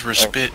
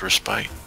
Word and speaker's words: respite: the clear just WIP he says respit it's pronounced respite swipe it kill me